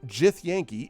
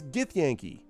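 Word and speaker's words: githyanki: from something being janky similarly it's not jith yankee it's githyanky it's not jiggle when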